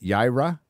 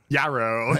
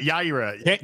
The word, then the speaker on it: Yaira: I keep saying Yarrow. Yeah. Is it how'd you say it? Is it Yaira? Yaira.